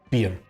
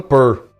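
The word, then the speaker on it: Pearl: Ela se escreve P e A R L. Pier. Tudo bem que o americano fala pur, per pronúncia deles. Eu aqui tô nem aí pra pronúncia dos americanos, eu falo pier e a grande maioria fala pier.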